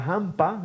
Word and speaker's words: Jampa: Y la Jampa, aspirado, ¿no? Que se llama una zona de Coria, la Jampa.